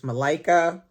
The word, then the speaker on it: Malika: seed by Malika Booker I think that's how she pronounces the name it's Malaika and oh my goodness